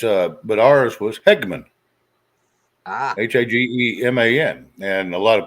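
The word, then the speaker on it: Hageman: uh but ours was Hegman h-a-g-e-m-a-n and a lot of people growing up always call me Hagerman well there's no R in there but whatever my stepdad's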